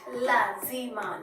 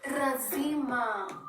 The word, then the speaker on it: lazima: How do you hear me pronounce it? Lazima. Lazima. It's a Swahili word that means a must, right? Lazima means a must. So Tanzanians, a lot will say razima.